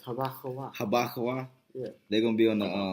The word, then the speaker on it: Habakkuk: It's HaBaKawah.